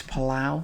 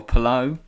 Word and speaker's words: Palou: 6 points off Alex Palau. He's a quality. Or Palou, I believe is how you say his name.